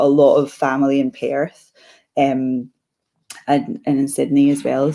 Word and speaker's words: Perth: I've got a lot of family in Perth. And in Sydney as well. So I love how you just turned Perth into a 2-syllable word.